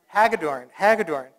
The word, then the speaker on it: Hagedorn: again with the election of Bruce, help me pronounce his name. How is it? Bruce Hagedorn to the Wisconsin Supreme Court.